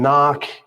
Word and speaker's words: knock: We mentioned some like the K and knock, the U W in ring, and the B in thumb, the P in pneumonia.